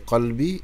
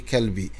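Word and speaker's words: قلبي: Mais au lieu de bien prononcer qalbi, il dit kalbi.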